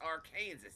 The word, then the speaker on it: Arkansas: It's pronounced Arkansas, you idiot. Arkansas. Well, I see.